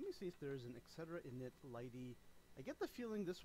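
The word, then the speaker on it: lighttpd: So that's not a great choice that I necessarily made using Lighty there. By the way, Light HTTPD. This sucker here is pronounced Lighty, which is stupid.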